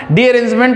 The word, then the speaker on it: derangement: Theorem जो है ना, स्पेलिंग एक्चुअली सही लिखे है ना, डीअरेंजमेंट होता है लेकिन स्पेलिंग जो है यही है डीरेंजमेंट थ्योरम।